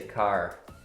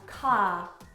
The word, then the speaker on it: car: We say car. This one, car. Car. Car. So the main difference there is that Allan pronounces the R at the end of this word.